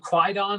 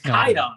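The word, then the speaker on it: Kwaidan: Walk with Me, and correct me if I'm pronouncing this incorrectly, but it's spelled Quidon, but I'm wrong. It's Kaidon, right? Yeah, it's Kaidon.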